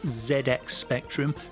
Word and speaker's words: ZX Spectrum: comments it is pronounced ZX spectrum because it's British and that's how we pronounce it over here none of this ZX nonsense it's ZX Spectrum anyway without further Ado